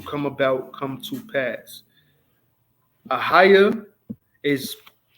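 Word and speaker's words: אהיה: Ahaya is how you say, first person, and it's future tense.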